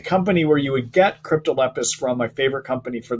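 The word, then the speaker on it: Cryptolepis: find crypto Lepus later I wanted to spell it for you it's a see ryp tol EP is there's not a T in there that as there's not a it's not Leptis it's crypto Lepus okay so if you're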